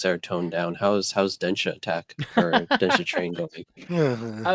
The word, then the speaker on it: Denshattack: I also know, I think the way you're supposed to say it is Denshattack, like really fast, because it sounds like the word dash attack.